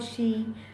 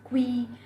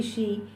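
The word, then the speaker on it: qi: In China it's called she. A lot of people also pronounce it as qui, but it's actually she.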